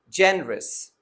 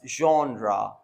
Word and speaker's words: genre: pronounce the next word most of my students pronounce it as generous or gendry where it is pronounced as genre now look at these